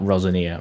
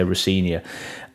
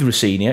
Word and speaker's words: Rosenior: thank you we will mention rosania sorry not rosania Rosia I will make sure to say rinia it might slip out a few times rosania